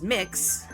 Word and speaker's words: Mx: We had a uh we had the first MX pronounced as mix Arizona gay rodeo and